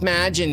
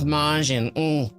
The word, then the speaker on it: Majin: It's not pronounced Majin, Nick, it's Majin.